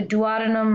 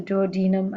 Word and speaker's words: duodenum: a special name uh the duodenum or the duodenum i don't know it has two alternate pronunciations it seems um here they are